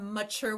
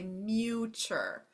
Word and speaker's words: mature: Ma, again, remind students that when they hear that open A, it's got, or that sound, it's got to be an open A at the end of a syllable. It cannot be U. If I spelled mature with a U right here, it would actually say muture.